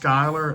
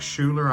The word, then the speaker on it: Schuyler: my first um and that's pronounced Skyler it looks like Schuler I called it Schuler for a long time this is